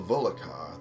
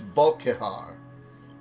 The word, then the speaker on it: Volkihar: Anyway, there are always human cattle in Castle Volokar that any vampire can feed upon, and I pronounced it wrong. It's Volkihar.